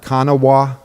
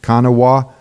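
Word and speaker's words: Kanawha: County okay cannot count it looks like Kanawa right and that's probably the way Native American said it kana wah but you know a southerners we shorten every word and make it as simple as possible so it's kanaa so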